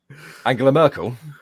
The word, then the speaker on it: Angela Merkel: Why can't you pronounce her name right? Angela Merkel.